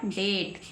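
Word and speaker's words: debt: तो क्या बन गया डेट क्या बन गया डेट क्या बन गया डेट ओके समझ में आई बात बी को नहीं बोलेंगे बी साइ रहेगी डाउट बी साइलेंट रहेगी शटल बी साइलेंट रहेगी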